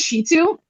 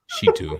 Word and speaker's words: Shittu: Okay, so my last name is Shitu. It's spelled Shittu. Shitu. And I like to tell